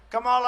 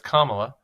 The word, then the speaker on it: Kamala: Suggests that if he was going to put the emphasis on the last syllable of Kamala when it's Kamala, then maybe she should do the same and refer to him as Don Old.